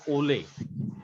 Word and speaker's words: ole: Following accented syllable. So this accent is called ole.